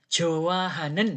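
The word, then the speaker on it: 좋아하는: sarami jowahanen jowah hanen h-nya enggak ada bunyinya jowah hanen gitu karena kalau bunyi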